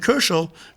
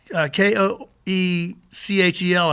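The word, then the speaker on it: Köchel: But then so this guy named Koechel, Koechel, I believe you pronounce it with an umlaut, decided to catalog Mozart's music because there was so much of it.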